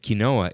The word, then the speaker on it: quinoa: hill I'll die on I don't want to say quinoa sounds too French and kinoa is closer to the original Native American pronunciation and that's how I